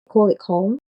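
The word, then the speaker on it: Köln: in English and then in German they say call it home like K and then O with the two dots on top and then L N.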